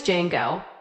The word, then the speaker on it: Django: My name is Django. The D is silent.